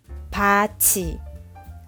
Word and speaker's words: 밭이: For the final consonant 디귿 and 티읕, influence the pronunciation of the initial consonant and they change into 지읒 and 치읒. 굳이, 굳이. 밭이, 밭이.